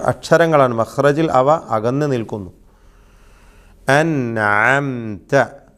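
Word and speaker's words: أنعمت: അൻഅംത. ഇവിടെ വരുത്തുന്ന അബദ്ധങ്ങൾ എന്താണ്? അന്നംത എന്ന് പറയും, അന്നംതയോ ഷദ്ദുള്ള നൂന് പറഞ്ഞുകൊണ്ട് അന്നംത എന്ന് പറയും. വളരെ വലിയ അബദ്ധമാണ്.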